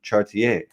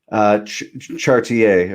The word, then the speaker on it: Chartier: you say my last name? Chartier or Chartier. Yeah, we say Chartier here in the States, but Chartier, yeah. I always hear different versions like Chartier, Charty. So yeah, I'm always interested to see how they say it up in Canada.